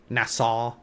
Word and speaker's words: Nassau: It'd be more like Tortuga or like NASA, Nassau, I think is how you say it, from like back in the Disney when pirates roam like the dinosaurs when the pirates roam the land.